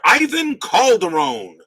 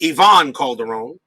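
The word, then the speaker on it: Iván Calderón: mariners is right fielder ivan calderon or probably pronounced yvonne calderon 2b steel rating henderson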